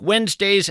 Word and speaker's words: Wednesday: If you're in fact scribbling this down, Wednesday is kind of tough to spell. It's not like it sounds. You want to spell it W-E-N-Z, but that, of course, would be a mistake.